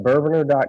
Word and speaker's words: bourbonr: and introduce yourself and make sure I'm saying is it bourbon or bourbon are calm like how do you how do you pronounce it yet you had it right bourbon or calm yeah there needs to be an e between the in and the are but that domain was